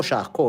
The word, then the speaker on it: Charcot: How did the Professor Jean-Martin Charcot, and اسمه شاركو مش شاركوت زي ما بعض الناس بتقولوا، ده الناس لازم تعرف لو فرنش تنطق فرنش صح، جيرمان تنطق جيرمان صح.